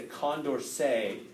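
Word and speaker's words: Condorcet: and it violates the Condor say criterion it's French word so I pronounced that way so Conda what's the conversation if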